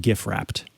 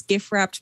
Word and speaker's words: GifWrapped: wrapped or if uh i think that the developer would pronounce it gif wrapped yeah so i'm going to call this gif wrapped because it's supposed to be a play on gift wrapped um and uh yeah